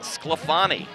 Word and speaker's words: Sclafani: To the far side, number 12, Wyatt Sclafani. A name that sounds just as it is spelled. We saw Wyatt's mom a little earlier tonight. So hello to Mrs. Sclafani.